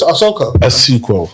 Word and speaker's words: Asuquo: How do you pronounce it? Asuquo.